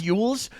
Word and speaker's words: Elwes: it's Yules, but Elwes. yes. Oh, I always pronounce it Elwes. Yeah, it's not pronounced at all the way it's spelled.